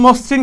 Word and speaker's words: মসৃণ: ওকে দেখো খেয়াল করো, অধ্বনির পর যদি রিকার থাকে তাহলে ওইটা কিরকম হবে? যেমন মসৃণ, খেয়াল করো, মসৃণ বানানটা ম শ্রী ঋণ মূর্ধন্য, মসৃণ বানানটার মধ্যে ম আছে, এখানে মর সাথে একটা ও আছে কিন্তু সিঙ্গেল আছে যেহেতু, এই যে রিকার আছে দেখছো, তাহলে কি মর সাথে একটা ওকার হয়ে যাবে, তাহলে মসৃণ এরকম হবে, মসৃণ এরকম দন্তন্য